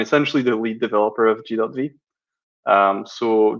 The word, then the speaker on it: G.V(): 15 times already but you pronounce it g dot V I know it causes a lot of confusion because of the syntax so before I go